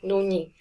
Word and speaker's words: 눈: And then the last one is 눈이. Now with the nian, it has the same pronunciation whether it's at the beginning or at the end. So this one doesn't matter. It stays the same no matter what.